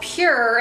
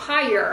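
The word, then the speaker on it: Pyure: One of you all let me know that this is called Pure and not Pyre. I've been saying it wrong all along, and I heard another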